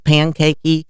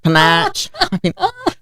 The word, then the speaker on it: Panache: Also with the name because nobody could say panache at the time and you didn't hear that word and I can remember people calling me Mrs. Pancakey. Are you Mrs. Pancakey? Mrs. Panache.